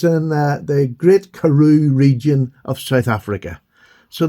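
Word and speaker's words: Karoo: And that karu, sorry, we're getting back to that's a shortened it's an abbreviation version of where they're from in South Africa.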